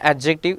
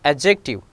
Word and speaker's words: adjective: Age, beige, handsome, handkerchief, bridge, acknowledge, adjective, mostly we speak like adjective, it is not an adjective, it is an adjective.